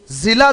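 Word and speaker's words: ज़िला: किला और जिला ये ऐसे है जिला अपन क्या बोलते हैं जिला जिला जो आता है ना ज ज़ मन किससे है जेड से किला अगर नुक्ता के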